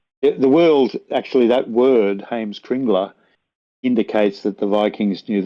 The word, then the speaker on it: Heimskringla: But if people want to search for Heimskringla in English, I'll just spell it for you. It's HEIMSK RINGLA.